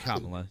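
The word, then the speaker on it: Kamala: Um we're talking about Camala Harris who during the primaries ended up her name is Kamla.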